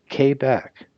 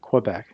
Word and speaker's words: Quebec: mike november oscar papa k back not quebec k back romeo sierra tango uniform